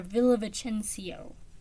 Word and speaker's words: Villavicencio: The Undocumented Americans by Carla Cornejo Villavicencio. Or Villavicencio. Has another syllable.